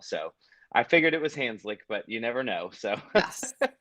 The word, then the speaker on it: Hanzlik: your end sure hi my name is hanslik okay that's great there we go I'm glad that you pronounced your last name I meant to do that as well so I figured it was hands like but you never know so I'm sure you've